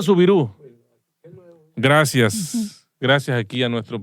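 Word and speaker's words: Soubirous: La niña se llamaba Bernadette Sauvirius, Siborius, algunos lo pronuncian Siborius, otros lo pronuncian Sauvirius. Repetimos, yo no hablo francés. Entonces se escribe S-O-U-B larga I-R-O-U-S, Siborius o Siborous. El coordinador nos... Subiru, se pronuncia Subirú.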